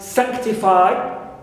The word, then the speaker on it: sanctify: Sanctify also stressed on the first syllable because it ends with phi, although we have I diphthongs.